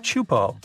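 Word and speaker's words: Teahupo'o: It's pronounced Chupo, and it means broken skulls in Tahitian.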